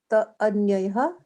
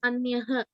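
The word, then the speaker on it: अन्यः: Uttama Purushastvanyah Uttama Purushasya ta anyayah Purushastvanyah. Purushasta anyaya. It's not Anyaya, it's Anyah. Oh, anyaha. Yeah, because you see that H at the end of it in the English text.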